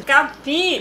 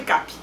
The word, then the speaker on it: Capí: Porque o Capi tem acento. Capi, mas todo mundo chama de Capi.